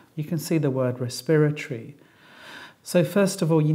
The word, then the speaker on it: respiratory: have a look then we've got respiratory we know it's four syllables the stress is on the second syllable and then we had